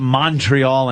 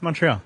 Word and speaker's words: Montreal: I've tried not to call it Montreal anymore. It's Montreal. Because they're all Montreal. That's how it's pronounced. But it's an O. Montreal. It's Montreal. It should be a U if it's Montreal.